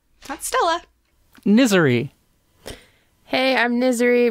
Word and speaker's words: Niserie: stella misery hey i'm misery rhymes with misery uh she is a